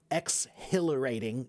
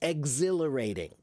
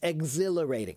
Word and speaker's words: exhilarating: The H is kind of silent. We don't say exhilarating. No, it's exhilarating. It's exhilarating.